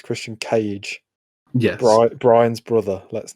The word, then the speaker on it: Christian Cage: it's not just christian we've been saying his name wrong it's christian cage yes brian's brother let's